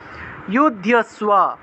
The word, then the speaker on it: যুধ্যস্ব: উচ্চারণ, নিরাশির নির্মমো ভূত্বা যুধ্যস্ব, যুদ্ধ ধয়ের সাথে জফলা থাকায় ধিয় উচ্চারণ, যুদ্ধস্ব বিগত জ্বরঃ, বর্গীয় জয়ের